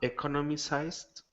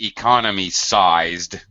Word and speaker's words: economized: So it's better for me to, and this way to be economized. Economized. Be careful. Economized. Okay. Yeah. The way you pronounced it, it was economy-sized, which is something entirely different.